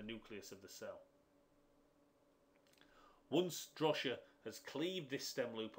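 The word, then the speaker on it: Drosha: pathway and those are the enzyme complexes drosia drosia way you pronounce it and daiser so what drosia does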